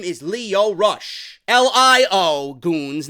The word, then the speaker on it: Lio: and his name is Lio Rush. L-I-O, goons, not L-E-O. He's not Leo, named after Leonardo the Ninja Turtle. It's Lio. L-I-O. Not Leo, the Ninja Turtle. Not Leo DiCaprio, the actor.